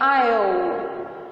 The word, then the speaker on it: aisle: escrito aí se tá mas não é paisley vocês vão se sentir induzidos né vamos falar em inglês mas a pronúncia em inglês é eu tá então repito comigo